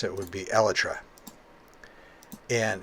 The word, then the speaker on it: Elytra: a pretty obscure example of words that are mispronounced in minecraft like for instance some people say elytra and some people say elijah that doesn't bother